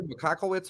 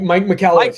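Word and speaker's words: Michalowicz: Andrew McCockowitz or something. I can't even pronounce it. Yeah, Mike McCallowitz. Yeah. That's what it is.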